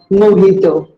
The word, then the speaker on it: mojito: to drink a glass of mojito it is pronounced as mojito what do you call this place restaurant or